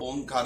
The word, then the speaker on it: ओम: अर्थात उ आ म ओम का ओम भी इसी तरह उच्चारण होता है।